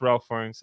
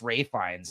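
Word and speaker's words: Ralph Fiennes: not him then it's Ralph fines I think it's them too I don't think any I think it's pronounced Ray FES I know I know it says Ralph it's Ray though I know but it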